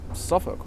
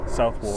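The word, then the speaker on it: Southwark: Technically, this place is called Suffukk, right? Yeah, this is Suk. Yeah. You know, for the longest time, I used to think Suffukk was pronounced Southwalk. Southwalk cuz it's spelled It's spelled Southwall.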